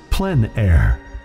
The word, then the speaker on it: plein air: means open-air or outdoors the French pronounced it plan air others say plein air no matter how you